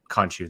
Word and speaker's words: Khonshu: I don't know if you guys saw it today, but we also got the announcement of who's actually voicing Khonshu. Khonshu, thank you.